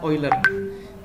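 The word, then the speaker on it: Euler: spoiler Angeles yang ini tulisannya under bacanya uler Nah jadi ada metode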